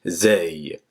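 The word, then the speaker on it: زاي: En fait, c'est comme le Z en français. Il n'est pas très élevé, n'est pas emphatique. En fait, c'est un Z simple. Ça fait Zay. Je répète encore, Zay.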